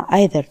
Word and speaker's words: either: أحب التنويه إلى أن either تلفظ بطريقتين، either وإيذر. either في اللهجة البريطانية وإيذر في اللهجة الأمريكية، وأيضا neither تلفظ أيضا neither في اللهجة الأمريكية.